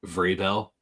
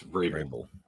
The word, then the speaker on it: Vrabel: Can I ask you to not pronounce their coach's name like Vrabel? I don't. I call him Vrabel. Because you called him Vrabel like 3 times. It's Vrabel. Okay. It's like bagel.